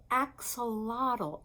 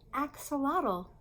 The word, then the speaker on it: axolotl: is called the axolotl the actual water it's pronounced axolotl axolotl can you say that axolotl that's a lottl